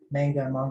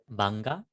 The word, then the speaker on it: manga: Manga. I don't even know how to pronounce that. Genji, how does one pronounce that word? Manga.